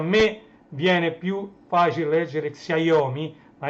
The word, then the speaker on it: Xiaomi: Oppo, quelli Apple ovviamente, Huawei, Xiaomi, c'è scritto Xiaomi, si legge Xiaomi, anche se a me viene più facile leggere Xiaomi, ma è Xiaomi.